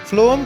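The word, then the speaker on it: phloem: फ्लोएम के पहले 2 अक्षर को देखिए, PH। इनका उच्चारण, प्रोनाउंसिएशन जो है फ, बिल्कुल फूड के पहले अक्षर F के जैसा है।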